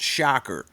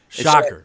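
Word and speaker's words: Schacher: last name is pronounced shocker shocker you know yeah if you stuck your fingers in a light socket you'd get a shocker that makes sense I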